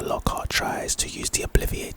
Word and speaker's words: obliviate: Crouch casting it obliviate is our next spell obliviate is the pronunciation it's a charm and its purpose is